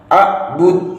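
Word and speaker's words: أعبد: A'bud tidak boleh. A'bud, a'bud, harus ada pantulannya pada saat melafalkan huruf dal.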